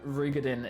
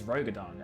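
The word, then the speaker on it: Roegadyn: I'm not liking how uh Rugadin is actually pronounced because I used to think it was Rogodon, and I could pronounce I can understand the pronunciation of Rogaden. I don't like Rugadin.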